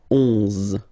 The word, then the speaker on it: onze: 11, 11, okay, so O plus N give you the sound on, onze, onze, okay, final E doesn't exist phonetically, onze, okay, douze, douze,